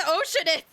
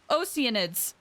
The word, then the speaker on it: Oceanid: So now, there's weird implications that people are turning into Oceanids! Or Oceanids. That's how it's supposed to be pronounced. I've been saying Oceanid for, like, ever.